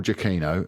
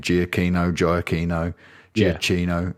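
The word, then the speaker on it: Giacchino: so Michael jaino and it's official that's how you say his name I've known this for years jaino it's really frustrated to me all these years people saying jino jino Gino it's jaino um he actually said it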